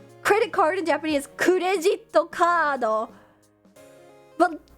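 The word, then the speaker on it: クレジットカード: I know that credit card in Japanese is kurejito kado. But saying kurejito kado was so, I don't know. It's just so many syllables.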